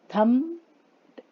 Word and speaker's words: thumped: इसमें कौन सा वर्ड नहीं सुनाई दे रहा है बच्चों? थम्प्ड, थम्प, पी सुनाई नहीं दे रहा, तो पी साइलेंट है।